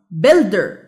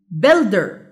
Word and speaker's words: builder: builder. builder. يبقى الستريس سيلابل هو build.